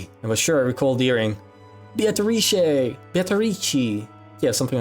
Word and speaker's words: Beatrice: Beatrice. Beatrice. And there's an O in there.